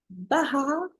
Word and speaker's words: Bahar: de grand talents iranienne bah har est-ce que je le prononce bien B oui oui c'est correct merci correct ok alors parlenous